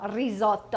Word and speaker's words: risotto: you cauliflower risotto and if you can roll your r's let me know risotto all right and then